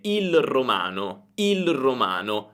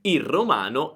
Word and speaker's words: il romano: Anche qui posso dire il romano, ma è un po' difficile da dire. Allora quando parliamo velocemente, la pronuncia sarebbe il romano è un accento molto bello. Il romano è un accento molto bello. Senti, la L sparisce, è semplicemente il romano, il romano.